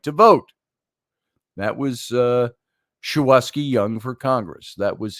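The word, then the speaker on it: Shuwaski: Congressional candidate shawaski young schwaski I think it's the way it's pronounced s-h-u-w-a-s-k-i oski young said we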